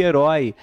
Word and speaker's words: herói: Herói, oi na última, continua com acento.